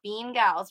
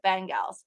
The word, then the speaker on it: Bengals: ben ban fan gals ben gals not bean gals right or is it bean gals no it's ben gals i asked google how